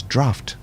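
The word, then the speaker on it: draught: D R A U G H T is draft. Draft. You pronounce it with an F in there.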